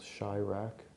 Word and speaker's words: Chiraq: And example of that in mainstream entertainment would be the movie by the director Spike Lee called Chiraq. That's spelled C-H-I-R-A-Q. So it's combining Chicago with Iraq.